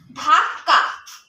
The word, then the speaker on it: ধাক্কা: কারণ এই কটা আমি ক এর মত উচ্চারণ করবো না। ধাক্কা।